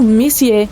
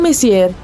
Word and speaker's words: Messier: m42 e m43 bom o m significa messier pronunciado messier e não messier Charles messier para ser